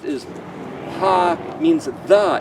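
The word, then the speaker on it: ה: The letter He is pronounced as Ha, means the.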